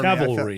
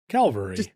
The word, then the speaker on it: cavalry: It's because my wife was not here to do it for Cavalry. me. There you go. Look at that. Calvary.